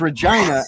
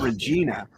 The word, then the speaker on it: Regina: a mean slogan Regina the city that rhymes with fun the city tourism board actually made it an official slogan for a couple of years yeah but that's how you know that it's Regina and not Regina you